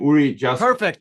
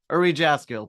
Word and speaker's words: Uri Jaskiel: Mike Zlatnik, and today it is my pleasure and a privilege to welcome Uri Jaskiel. Sorry, Uri, I mispronounced your name. Uri Jaskiel. Perfect. You got it right. Uri Jaskiel.